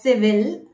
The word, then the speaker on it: civil: As per the spelling, it should be pronounced as civil, but there is a slight difference in the pronunciation. You should pronounce it as civil. Civil, not will. There is no syllable in the last letters of the word.